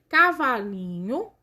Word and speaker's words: cavalinho: Cavalinho. Qual que é a sílaba tônica? É o li.